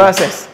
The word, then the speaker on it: Versys: How do you pronounce that, Robert? Versys.